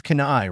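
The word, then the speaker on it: kunai: Kakashi rolled his eyes the boy still managed to garble the name of such easy pronunciation honestly these foreigners it's canai Ronald Kakashi said amused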